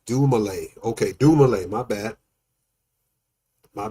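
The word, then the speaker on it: Dumile: Dil is pronounced dumlay.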